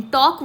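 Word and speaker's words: talk: here we will circle this word टॉक इन टॉक word to एल is silent silk balm in the word balm L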